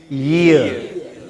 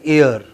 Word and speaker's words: year: Spread your lips. Don't you see the British have their lips going from ear to ear like this? Okay, now say it year. But many of us in India pronounce it as ear.